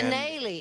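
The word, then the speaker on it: Kanaly: And- Canale. It Canale. rhymes with shillelagh, darling.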